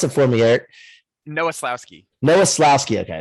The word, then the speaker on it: Nowoslawski: to get a nickname for you too yeah pronounce it for me eric noeslowski noah slowski okay it's very easy well eric's